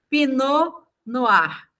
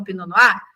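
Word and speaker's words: Pinot Noir: Eu vim com essa uva pinar. Eu não sabia que escrevia assim, tá gente?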